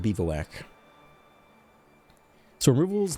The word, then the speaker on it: Bivouac: I know you guys tell me I pronounced that incorrectly. But that's what it is. It is a Bivouac.